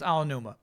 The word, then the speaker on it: Aonuma: That's it for Aonuma? Aonuma. Excuse me. Chat told me how to pronounce that correctly. It's Aonuma.